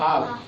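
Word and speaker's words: half: काफ हाफ। ठीक है? तो देखो एफ के पहले एल आ रहा है तो एल का उच्चारण नहीं हो रहा है।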